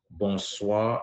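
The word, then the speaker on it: bonsoir: tell me good evening you should say bons bons is spelled as b o n s o i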